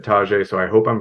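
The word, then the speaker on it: Tyjae: he looks great um the name that's what I read and I listened to an interview and they said Tajay so I hope I'm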